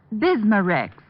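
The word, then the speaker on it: Bisma-Rex: have to remember that bismurex is that how you say it that's right ma'am b-i-s-m-a hyphen r-e-x bismurex ask for bismarcks at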